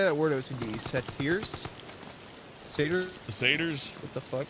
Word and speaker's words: satyrs: Satyrs?